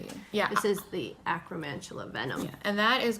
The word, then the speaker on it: acromantula: but it's the okay you're gonna have to pronounce it cuz I always just acromantula venom yeah there you go acromantula venom this is one of the colorways we